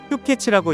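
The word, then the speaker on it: 氷結: 한자어로 빈결이라고 쓰고 휴케츠라고 읽는 추아이의 일종인 기린 휴케츠입니다.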